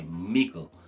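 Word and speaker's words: migl: changed sometimes for example the dd sound in patwa for example middle would be pronounced with a g the dd would be pronounced at g instead of middle we'd say mikkel and um migo actually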